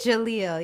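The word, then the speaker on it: Jahleel: First of all, the actor that plays Kai, is it Jahil? Am I pronouncing his name correctly? Jalil.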